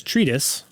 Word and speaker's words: treatise: I pronounced it wrong. I've always read it. It's treatise. Treatise. So the Treatise the better. last E is silent.